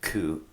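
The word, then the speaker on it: 九: 9 being the other number, ku, which is the same kanji pronunciation phonetically again for suffering.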